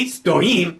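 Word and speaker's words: стоим: Remembering to put the stress on the second syllable, the following sentence is derived. My stoim na kolenyach.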